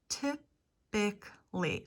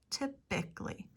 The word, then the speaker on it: typically: omitted in typically typically typically I'm omitting the a typically family we talked about